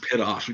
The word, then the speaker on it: Pitof: It is Pitoff. That is correct for 1 point. I believe it's pronounced Pitoff.